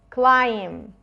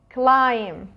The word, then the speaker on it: climb: climb climb would direct the bee in this verb is silent climb climb okay so we have